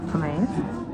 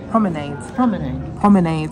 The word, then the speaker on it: Promenade: So I've received a birthday card from the Promenade. I think I say it wrong. It's Promenade. So in my other video when I came home with Izzy, I kept saying Promenade like an illiterate.